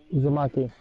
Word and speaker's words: Uzumaki: Uzumaki.